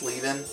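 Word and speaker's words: Leven: name is Jackie Lin it's spelled l e ven like people might think it's Le but it's leing and you need to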